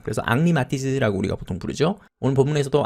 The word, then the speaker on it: Matisse: 근데 이 사람이 프랑스 사람이기 때문에 프랑스에서는 H가 발음이 되지 않기 때문에 헨리라고 발음하지 않고 앙리 정도로 발음합니다. 그래서 앙리 마티즈라고 우리가 보통 부르죠.